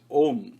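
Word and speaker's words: ॐ: narayanaya it begins with om and om has got four syllables the first one is ah the second one is oo and the third one is ma and what is the fourth when you say um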